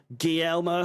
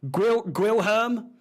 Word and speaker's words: Guilherme: Luis Guillermo, how do you say that? Guilherme.